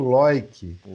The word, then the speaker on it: Leuck: É mais fácil dizer Leuck, a maioria muitas pessoas dizem, mas a pronúncia em alemão, né? Nós que somos da terra da colonização alemã, e eu sou de descendência alemã, então é Loic. O EU fica Oi em alemão, né?